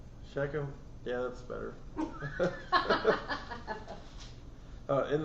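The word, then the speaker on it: Shechem: I'm not sure how to pronounce that. Sheckchum. Sheckchum.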